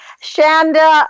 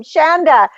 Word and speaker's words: Chanda: yourself last week and you say her name like chandelier so if I say it wrong I keep calling it wrong but it's chandelier I'm going to just call you chandelier welcome Shanda to Star SM be